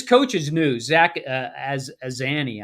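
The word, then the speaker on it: Azzanni: Zach as Azani, I believe is how you pronounce his last Mhm.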